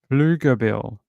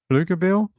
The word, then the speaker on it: Pflugerville: Okay, so he's saying Pflugerville. Pflugerville?